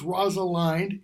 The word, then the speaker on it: Rosalind: Rosalind, or Rosalind, depending on how you pronounce it, but in order to make it fit the rhyme in the play, it's Rosalind, if I'm remembering correctly.